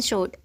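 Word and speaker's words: sword: उच्चारण वाह होता है, लेकिन जब किसी वर्ड में W के बाद R हो या W के पहले S हो तो W का उच्चारण नहीं होता है। W के बाद R हो या W के पहले S हो तो W साइलेंट रहता है।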